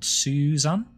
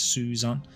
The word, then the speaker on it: Suzan: song in this case, Suzan. Um which is pronounced the same as the female name Susan.